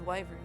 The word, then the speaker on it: wyvern: a heretic and his wyvern. I don't know how to pronounce that word. Is it wyvern? It is. Wyvern.